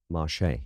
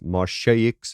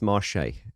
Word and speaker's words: Marsheaux: I'm pronouncing it wrong I've heard people pronounce it as marshaics and things like that but uh I believe it is Marche and if I'm getting